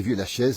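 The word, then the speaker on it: Viuz-la-Chiésaz: de Haute-Savoie, magnifique, Vieux-la-Chièze, ça s'écrit Vieux-la-Chièzaz, hein, on dit Vieux-la-Chièze, on ne prononce pas les Z chez nous, et pas les AZ à la fin, vous voyez, donc c'est comme ça que ça se passe, hein.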